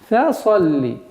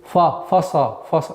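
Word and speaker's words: فَصَلِّ: Фа-салли. Фа. Фа мягкий звук. Нельзя его произносить фаса. Нет. Фа-салли. Фа-салли. Сад твердый звук.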